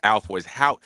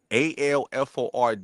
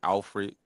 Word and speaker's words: Alford: Like my last name is Alford. It's spelled how you should say it. Alford, and everybody be saying Alfred and all that goofy, but the goofy.